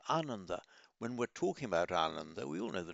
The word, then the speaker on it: Ananda: By the way, don't pronounce it Ananda. That means joyless. It's Ananda, which means joyful or bringer of joy. Very important difference there. Not Ananda, Ananda.